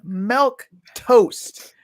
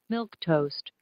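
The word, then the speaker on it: milquetoast: the screen it does milk toast let's listen to how it's pronunciated milk toast milk toast so he wrote it how it's pronounced and it's a timid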